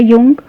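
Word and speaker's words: Jung: ठीक है, इनको जे से लिखा जाता है लेकिन इनको पढ़ा जाता है यू एन जी, जे को साइलेंट करके जे युंग कहा जाता है। ठीक है, तो जुंग ना कहकर युंग कहिएगा।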